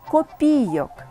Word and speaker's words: копійок: 5 кг і по-третє правильно казати не вистачило 50 копійок 37 копійок 8 коп це той випадок коли наголос залежить від значення слова якщо мається на увазі номінал монети або сума грошей То наголошуємо на другий склад копійок Якщо ж маємо на